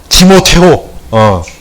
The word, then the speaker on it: 디모테오: 나 이번에 좀 디모테오, 카톨릭적인 발음으로, 우리는 그냥 디모데, 이제 걔들은 디모테오, 문재인 디모테오, 그건 디모데를 욕하는 거야, 욕하는 거야.